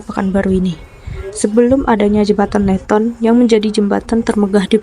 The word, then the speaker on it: Leighton: Referensi lain menyebut masyarakat Pekanbaru lebih akrab menyebut jembatan Siak ini sebagai jembatan Leton. Leton pelafalan simpel dari Leighton.